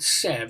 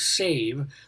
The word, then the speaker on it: sev: I call it sev. It's actually pronounced save.